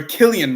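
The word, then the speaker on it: Cillian: great movie I love San Murphy or Killian Murphy sorry I don't like saying s because that's not the way it's pronounced Killian Murphy uh I'm assuming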